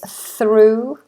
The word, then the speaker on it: through: Yes, a few more that I'm seeing is through, think. Through is an interesting one actually. Through is mispronounced quite a lot because we have an R straight after the TH, thr.